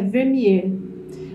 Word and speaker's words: Vermeer: Aliás, a pronúncia é Vermeer.